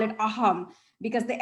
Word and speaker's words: Assam: in um assam i i should call it aham because the s is silent so hunger they traveled to other parts